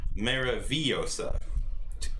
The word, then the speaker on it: Maravillosa: Actually, I think that'd be Maravillosa. Two L's is pronounced Y.